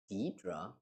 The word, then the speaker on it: Deidre: Deidre? Yeah, so that's the correct pronunciation of the name.